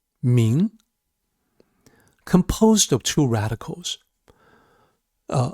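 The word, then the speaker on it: 明: Here, this character translated as enlightened, it is pronounced ming, composed of two radicals.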